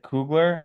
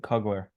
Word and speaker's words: Kugler: You know what's funny is is we pronounce it Cougler and they pronounce it cuggler. So a lot of people call me Cugler, but really it's Cougler. That's that's how we pronounce it.